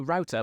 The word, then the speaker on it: router: routa I did to we call it routa in this country but other countries call it router which is I've got